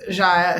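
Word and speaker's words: Xia: her took her off was ja so it's spelled x i a if anyone looks her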